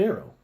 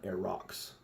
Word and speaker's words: Arreaux: it's Sleek like an arrow but of course back then I didn't know how it was pronounced you got to think kind of French AO and not a rocks as I used to